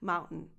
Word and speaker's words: mountain: very fast reduced sound, mountain. This is called a stop T. And it happens because of the presence of the N, mountain, and it happens naturally.